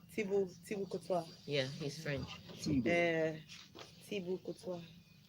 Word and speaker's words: Thibaut Courtois: Please, how do you pronounce Thibaut Courtois? Thibaut Courtois. Eh? Thibaut Courtois. Thibaut Courtois.